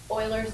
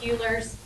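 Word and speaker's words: Euler: So, in order to get rid of the negative symbol, um we use Oilers's notation. Okay, it looks like Uler's um e u l e r, but it's pronounced oiler.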